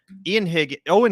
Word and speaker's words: Eoin: Eoin Higgins, sorry, I always mispronounce this guy's name because it is spelled different than I'm used to the name Owen being spelled, but that's my dumbass fault for not knowing pronunciation, not his.